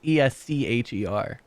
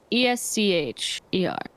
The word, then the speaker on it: Escher: like a sure Escher I like it with like I like I I like esker better spell it that same way you are the God bro and see Asher is yes c-h-e-r I just feel like esker sounds more Scandinavian well not Scandinavian uh